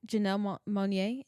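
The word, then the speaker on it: Janelle Monáe: Um gosh, Jan Janella Monae and Tom Brown. Janelle Janelle Monet and Tom Brown. Did I pronounce that right?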